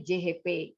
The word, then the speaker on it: CHP: CHP bacanya JHP ya.